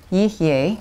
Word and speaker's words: yihye: You don't have to remember the vowels, but that's the way it's pronounced. Yihye, which means will be.